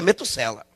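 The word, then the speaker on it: Metushelah: sela Ou meto Salem a pronúncia correta no hebraico é muito sela esse nome a luz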